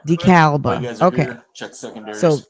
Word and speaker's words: DeKalb: This is DeKalb or DeKalb, Illinois, not Georgia.